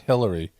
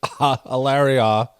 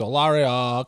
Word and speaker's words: Hilaria: name wrong it's not Hillary it's it's Hilaria it's not Hillary it's olario come on Dr culture